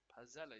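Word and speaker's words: Pezzella: Pazella is how you say his name.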